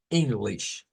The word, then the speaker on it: English: dos veces ese sonido no se dice en se dice in English english english es ese sonido I I un sonido como